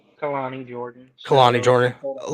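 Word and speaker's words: Kelani Jordan: Canella Jordan. Did I say her name right? Kalani Jordan.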